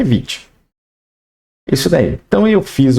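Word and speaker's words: Vite: Construtor o Vit tá Vit é assim que é pronúncia tá gente eu gosto de bater em cima disso aqui no overview da documentação do Vit eles falam que é Vit se você der um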